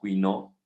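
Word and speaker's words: Couinaud: Entonces, existen resecciones regladas y esto pues se debe a estudios que hizo el doctor Quinault, entonces Quinault es como se pronuncia en francés, y aquí tenemos nosotros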